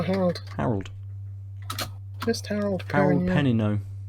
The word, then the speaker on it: Perrineau: Harold Perrineau. Oh no, Perrineau. There we go.